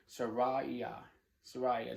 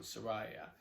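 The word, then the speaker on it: Seraiah: I've mispronounced it a couple of times. Sariah, just like Jeremiah on Sariah.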